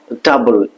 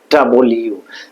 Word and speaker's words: W: তারপর ডাবল, ডাব্লু, আমরা যেটাকে বলি ডাব্লু, আসলে এটা সঠিক উচ্চারণটা ডাবল ইউ, প্রথমে ডা আ বা লা, ডাবল, তারপর ইয়া উ, ইউ, ডাবল ইউ, ডা আ বা লা,